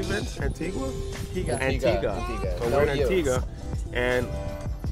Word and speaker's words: Antigua: Antigua.